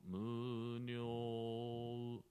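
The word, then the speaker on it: 無量: If you can try yourself, first try without u, like kimyo, muryo, yeah? Just we pronouncing o, but it's not correct. We have to pronounce u gently.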